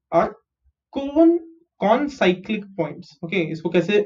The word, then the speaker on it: concyclic: Points G, D, E, F are concyclic points. Okay. Isko kaise pronounce karenge? C-O-N, con and cyclic. Concyclic.